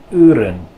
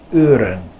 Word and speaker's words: uren: This word is pronounced uren. Uren. So, uren. You don't want to say oo, and you don't want to say you. Uren.